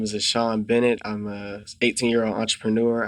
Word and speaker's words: Ashon: How do you say Ashton? Ashon.